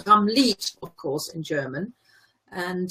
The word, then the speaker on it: Ramlied: their name, but then I guess everybody pronounces it in English because they're an English band and they're in England. Hence it's Ramlight, but it's spelled L-I-E-D.